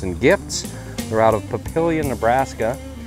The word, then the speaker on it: Papillion: They're out of Papillion, Nebraska. Yes, I pronounced that right. It's Papillion, not Papillon. I've been called out on that before, but no, I'm right. It's Papillion, not Papillon. But like I said, I